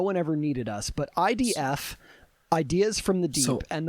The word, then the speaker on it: id: I often hear people pronounce it uh pronounce ID as ID, but that is not correct. It's ID and rhymes with did.